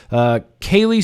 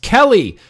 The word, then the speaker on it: Kelly: Kaylee is actually pronounced Kelly.